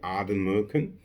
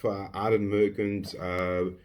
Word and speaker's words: Ardnamurchan: pronounce it properly, but I do say Ardnamurchan, with the N being just a bit silent, but may or may not be the right way of saying it.